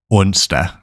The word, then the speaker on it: onsdag: Let's go through each one of them and pronounce them very slowly. First up is mandag, mandag. Tirsdag, tirsdag. Onsdag, onsdag.